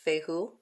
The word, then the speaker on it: Fehu: So this one would be pronounced Fehu.